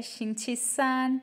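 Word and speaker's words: 星期三: तो वेडनेसडे हमारे पास third day है वीक का तो ये हमारे पास आएगा शिछिसान। ये तीनों ही हमारे पास फर्स्ट टोन के साथ हैं। शिछिसान शिछिसान मींस वेडनेसडे।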